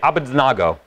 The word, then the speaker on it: Abednego: I don't remember Shadrach and Meshach, but I love the way they say Abednego. They say Abednego.